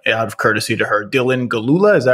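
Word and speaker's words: Dylan Gelula: an outstanding actress whose name I'm going to mispronounce, so I don't even want to try, out of courtesy to her. Dylan Galula, is that right?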